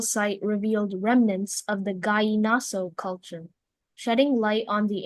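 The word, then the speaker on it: gallinazo: The sentences, "The archaeological site revealed remnants of the Gaaso culture, shedding light on the ancient civilization's artistic and technological achievements."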